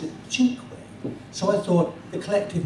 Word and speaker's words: Cinque: And sinked is an Italian spelling, and you pronounce it cinque.